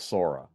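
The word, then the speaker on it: psora: say the mother mym is called sora spelled with a PS o r a SORA soric a soric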